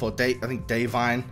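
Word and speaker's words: Da'Vine: And Davine Joy Randolph, Davine is how you pronounce it, Davine Joy Randolph, is also incredible, as you know, she's also in the mix as this grieving mother.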